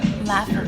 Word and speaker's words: laffa: No, it's a laffa wrap, Mediterranean laffa wrap.